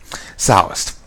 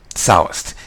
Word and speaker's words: Sallust: Sallust. That's it. Sallust. I should remember his name. It rhymes with ballast. Sallust.